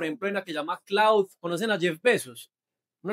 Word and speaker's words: Claude: Eso pues no va a entrar en detalles de eso, pero la IA de Jeff Bezos y de Amazon se llama Cloud, se escribe Claude, ahorita la vamos a ver.